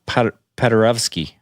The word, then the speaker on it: Paderewski: Sometimes the W is right before a ski makes a V sound. Like I know in Polish it does. So and maybe it's Paderewski.